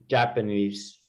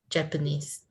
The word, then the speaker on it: Japanese: Japanese. Japanese. The accent is on the first syllable. Japanese.